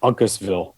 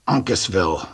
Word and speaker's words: Uncasville: um and there's a veteran Expo and it's pronounced Uncasville Uncasville which is uh I think that's the well